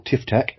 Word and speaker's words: TFTAK: Get that 10% cheaper coffee into your TFTAK cup, or TifTac, as I like to pronounce it.